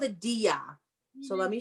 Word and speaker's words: diya: It's called a diya. So let me spell it.